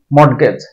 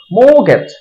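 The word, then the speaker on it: mortgage: এটাকে আমরা উচ্চারণ করি মডগেজ মডগেজ মানে বন্ধক দেওয়া এটা আসলে মডগেজটা ভুল উচ্চারণ এটা শুদ্ধ উচ্চারণ হবে মোগেজ মোগেজ মো এর উপর একটু ছাপ দিতে হবে তারপরে গেজ মোগেজ মোগেজ এটাকে আমরা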